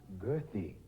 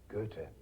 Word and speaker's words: Goethe: about time we americans learn to pronounce his name correctly it's not girthy but goethe i think he'd appreciate